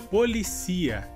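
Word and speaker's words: policía: Nossa próxima palavra seria, em espanhol, policia, e em português seria polícia. Nesse caso, a palavra em espanhol tem a sílaba mais forte como si, e no português a sílaba mais forte seria li.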